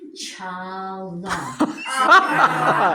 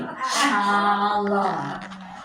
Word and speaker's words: challah: Challah. Say it after me. Challah. And my granddaughter goes, she was saying challah. I said, did you tell her it was challah?